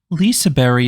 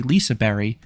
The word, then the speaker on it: Liseberg: And to address the elephant in the room about the pronunciation, when you say the name in Swedish, the G at the end is silent.